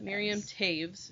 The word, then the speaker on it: Miriam Toews: author her name is miriam taves and that's spelled t-o-e-w-s which is a mennonite name i o w t o e w s t o e w miriam taves is how you pronounce it um i read